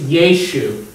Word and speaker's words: Yeshu: Jesus' name in the Syriac or Aramaic pronunciation is Yeshu.